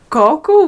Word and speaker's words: coco: There's coco, which is coconut, and coco, which is poop. So if you put the accent on the wrong part of the word, then you get some pretty strange looks. Like, did you mean coconut or did you actually mean poop?